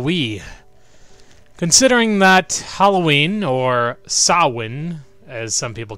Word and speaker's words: Samhain: some people call it personally I prefer Samhain because that's the way it's spelled you friggin Irish and/or Scottish people did see it's not saw one if you have an eminent H in it that just doesn't make any sense anyway I figured that